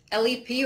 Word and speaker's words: LEP: ok it's working with LEP or leap patients and medical interpreters all right and so you have you pronounce LEP leap and then all right either/or either all right and we're